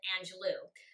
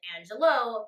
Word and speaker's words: Angelou: Most people pronounce it Angelou, but she herself pronounces it Angelou, derived from her first husband's last name, Angelos.